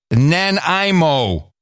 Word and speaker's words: Nanaimo: can't take it anymore the city in British Columbia is Nan IMO Nanaimo cheers fellas I greatly appreciate what you do Jennifer Wilson thank you Jennifer well I pronounce it Nanaimo it's Nan Imo yeah well she where